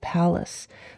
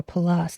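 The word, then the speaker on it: Pallas: Okay, with that said, on June 9th, we have the the uh asteroid palace or Palas depending on how you uh pronounce it.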